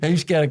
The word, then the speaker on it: Heemskerk: Hemskirk Castle or Hamilton Palace? Your pronunciation is really good, to be honest. So what is that? Is that where you're from? Heemskerk, that's where I was born.